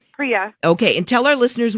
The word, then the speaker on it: Priya: Now, Priya, am I pronouncing that right? Yep, Priya.